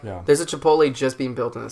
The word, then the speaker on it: Chipotle: we didn't realize it was supposed to be pronounced Chipotle yeah you know cuz like we just didn't know we know yeah performance is great yeah we called it this so weird we called it chip Attell that's funny even though that even though the